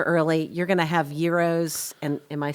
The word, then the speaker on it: gyros: so get there early you're going to have euros and am I saying it correctly you are